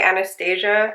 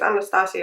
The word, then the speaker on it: Anastasia: I know I used to say Anastasia, but I think like after listening to so many YouTube videos that the correct way to say it is Anastasia, right?